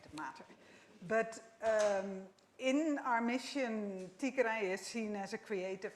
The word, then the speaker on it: Tigray: And so the place you're in is Tigray, is how you pronounce it? It's in Tigray.